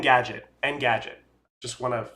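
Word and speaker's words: Engadget: end the gadget and end n n Gadget end Gadget just want to say it right and well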